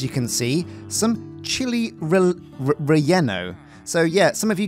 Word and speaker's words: relleno: So I guess in the Spanish language, when you're talking about dishes, anything that's a double L is more like a Y.